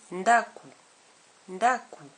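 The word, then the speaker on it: ndako: Moiss moici la femme la lettre N combiné à la lettre D donne le son n n comme dans nakou nakou la maison n combiné à G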